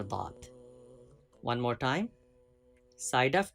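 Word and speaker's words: ض: Touch side of tongue with root of upper molars, right hand side or left hand side. Either way you can pronounce letter Dad.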